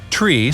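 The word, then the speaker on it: three: Tree stands for 3, fower is 4, fife is 5, and niner means 9. No, your captain doesn't have marshmallows in his mouth. Such pronunciation helps to avoid radio miscommunications and the confusion caused by similar-sounding numbers and words.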